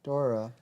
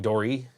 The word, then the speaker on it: Dory: You gotta watch Finding Dora. Finding Dory. Dory. I said it wrong.